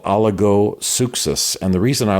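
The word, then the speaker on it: oligopsychos: was not robust in battle, was often called oligosuchos.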